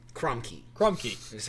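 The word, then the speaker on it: Crumkey: C Ru m k e y Crum key Crum key is how be spelled so that the official pronunciation is Crum key yeah I guess so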